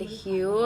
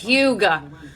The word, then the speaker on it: Hue: Ilia Mario lip liner in the shade Hue I was literally pronouncing this Huga I'm just I'm such